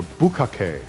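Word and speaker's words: ぶっかけ: and capitals, no, it's just the word bukkake. Or bukkake, if you want to say it properly. If you're ever in a position where you might get judged for your pronunciation of the word, now you know.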